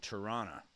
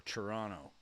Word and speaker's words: Toronto: Canadians call it Toronto or Toronto. We don't pronounce the T.